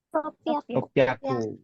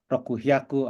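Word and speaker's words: ろっぴゃく: Nah, ini cara bacanya beda. Ya. Normalnya kita nyebutin sanhyaku mungkin ya, atau rokuhyaku, atau hachihyaku gitu ya. Tapi enggak. 3 ini cara bacanya dia ingin beda sendiri. Ya, jadi agak hati-hati untuk 3 angka ini.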